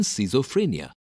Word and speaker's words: schizophrenia: Ch is not pronounced in schism but pronounced as K in schizophrenia.